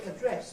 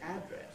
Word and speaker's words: address: In American English, in British English we say address for both the noun and the verb, but in American English they say address very often for the noun.